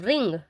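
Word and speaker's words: wring: बाद है I will रिंग I will रिंग है डब्ल्यू साइलेंट है तो इसलिए रिंग पढ़ा जाएगा लेकिन है यह विरिंग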